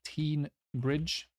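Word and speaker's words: Teignbridge: South hams um porridge I think it's teen Bridge after River teen and exitor okay uh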